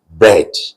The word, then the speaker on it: bread: The E A is not E vowel number one, but vowel number three. So what do you think the pronunciation will be? Bread. Bread. Did you get that? It's EA, but it is bread.